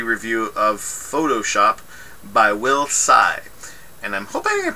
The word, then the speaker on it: Tsai: of Photoshop by Will Tsai. And I'm hoping I'm pronouncing it right. Usually with the names that have TS, the T is silent.